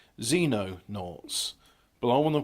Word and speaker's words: Xenonaughts: I want to say Xenon like the noble gas, but it's not. It's Xenonaughts.